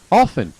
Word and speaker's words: often: Often, no pronunciamos la T, often, 70%.